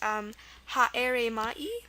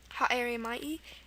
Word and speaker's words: Haere Mai: And this is pretty hard to pronounce. I'll try my best. I think it's pronounced Haere Mai. Haere Mai.